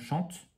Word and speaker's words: chante: Ici, on a par exemple chante, je chante. Le E ne se dit pas, mais s'il n'y avait pas de E, on dirait chant.